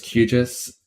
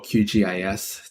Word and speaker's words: QGIS: horrible white screen now so this is qis um or qgis depending on how you want to pronounce it it's basically a uh